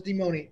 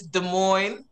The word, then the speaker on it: Des Moines: These people gave our city some type of French name, Des Moines. But yeah, so it's like, it's Des Moines, you know, Des Moines, okay?